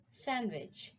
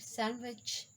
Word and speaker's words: sandwich: words valeste handsome handkerchief sandwich so d is silent in these words we cannot pronounce t like veniste handsome handkerchief sandwich how the e is